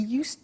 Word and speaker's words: used: He used to give only dogs, and he used to eat Italian cake at Christmas. Now, this verb, used to, well, it's written U-S-E-D, but the pronunciation is used, and we'll see that on the screen later.